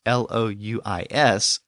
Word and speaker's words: Louis: When a U appears before another vowel, it tends to make the W sound. So a name like Louis, L-O-U-I-S, it's sometimes pronounced Louis.